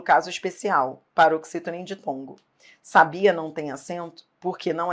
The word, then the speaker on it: sabia: Sem acento, sabia.